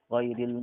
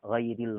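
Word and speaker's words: غير: kasrah yang terletak pada ghairil maghdub. Ghairil sering terbaca ril ini dimiringkan sama sebagian kita. Sebagian orang yang baca Al-Quran dibacanya ghairil. Rel sama ril beda. Rel, dil. Jangan dibaca rel.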